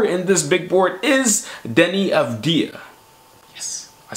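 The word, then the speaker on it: Deni Avdija: at number four in this big board is Denny of dear yes I said it right this time now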